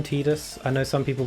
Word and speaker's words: Tidus: one of my favorite final fantasy protagonists i pronounced his name tidus i know some people pronounce it as titus and i will agree titus does sound better